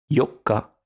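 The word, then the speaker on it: 四日: On fera attention à bien faire la différence entre le 4, Yokka, et le 8, Yoka.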